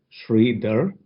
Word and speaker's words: Sri: to meet you George my name is pronounced Shri and I just go